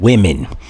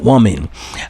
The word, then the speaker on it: women: It's not woman when you're speaking on a multitude of women. It's women with an I, like you pronounce it with an I. Women, not woman.